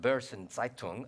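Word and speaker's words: Börsen-Zeitung: never took German but I think it's pronounced Burson zaitung accused Brodsky of quote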